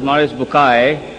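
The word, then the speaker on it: Bucaille: scholar of Quran Dr moris buky pronounced as moris Bai am I right Dr matter okay uh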